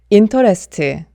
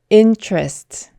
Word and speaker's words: interest: 이렇게 발음을 하게 되죠 하지만이 단어는 인터레스트가 아니라 intrest intrast intress 이렇게 발음을 주저합니다 t 다음으로 얼 소리가 올 경우에는 이 소리가나요 그래서 인터레스트가 아니라 intrest intrastar 그리고 원래이 단어는 3음절이지만 네이티브는이 단어를 interest 이렇게 3음절로 잘 발음하지 않고 이음절로 줄여서 intrast intrest intrast 이렇게 발음한다는 점 기억해두세요 네 오늘 영상은